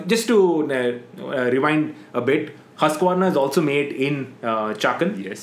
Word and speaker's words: Husqvarna: Okay, pronounce the name. Husqvarna?